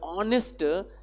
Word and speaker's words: honest: Here honest in the word honest begins with a vowel sound, therefore use an. Here H is silent.